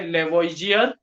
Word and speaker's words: Lavoisier: लेवोइजियर spelling है LAVOISIER, proposed by लेवोइजियर।